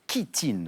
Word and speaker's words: chitine: Chitine, qui s'écrit CH, qui se prononce chitine, oui.